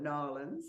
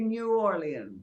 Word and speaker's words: New Orleans: they call it yes some people call it New Orleans where are you going here it is well I'm a bit unusual I say New Orleans okay nothing wrong with that yes two extra syllables got you now I